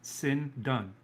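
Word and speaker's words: σινδών: might be linen cloth is phonetically pronounced sin done s-i-n-d-o-n-e sin is none that's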